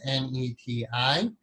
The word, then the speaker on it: neti: In the West, it's often transliterated as N-E-T-I. But the more proper transliteration to give you a better pronunciation of the Sanskrit would be N-A-Y-T-I, neti.